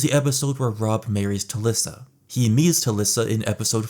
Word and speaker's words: Talisa: You know, Tissa. Tissa. It rhymes with Shalissa.